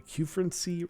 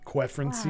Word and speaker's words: Quefrency: So how do you say that? A Q-Frenzy? Q-Frenzy? Q-Frenzy. I only know that been... I only know that because of Keep Noob. Wow, I've been saying it so wrong. Quefrency.